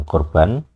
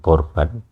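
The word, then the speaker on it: קָרְבָּן: Jadi seperti saya tunjukkan di sini ada kamus yang menuliskan korban. Jadi pengucapan yang asli adalah khof, tapi kita kesulitan untuk menirukan bunyinya sebenarnya, makanya seringkali digunakan huruf K.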